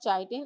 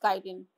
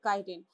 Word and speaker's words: chitin: It's not chitin, it's chitin. What is it? It's chitin. Chitin. Okay, pronounce it chitin.